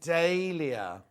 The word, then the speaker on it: Dahlia: Americans say Dahlia. Oh. English say Dahlia.